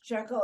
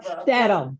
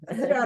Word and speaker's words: shtetl: The story is in a shekel, is that how you say it? Shekel. or whatever. Shtetl. Shtetl.